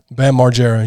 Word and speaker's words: Bam Margera: You made his name have like 6 syllables in the last name. You want to try it? Bam Margera. You went Bam Mar. That was fucking spot on, dude.